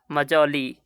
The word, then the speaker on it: Majuli: आप स्पेलिंग याद रख लो, MA, that is MAJULI, pronounce as मजौली.